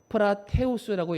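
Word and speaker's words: πραΰτης: 이 온유가 헬라어로 프라테우스라고 읽는데요.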